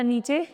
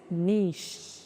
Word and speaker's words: नीश: हिंदी वाला नीचे नहीं दिस इज नीश। इसमें भी सी एच जो है वो इ के साथ मिलके चे वाली साउंड नहीं श वाली साउंड लाते हैं। नीश। माय नीश is English speaking.